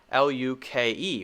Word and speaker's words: Luke: Before we said we can make the long U sound with the silent E like my name, L-U-K-E, which is Lu, ooh, Luke.